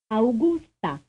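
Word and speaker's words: Augusta: t a frame 42 how many syllables do you hear in this name AA a the answer is three frame 43 how many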